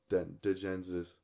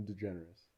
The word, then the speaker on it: DeGeneres: say her last name DeGeneres digensis that's not how you say your last name Ellen degenesis Ellen DeGeneres the generous did you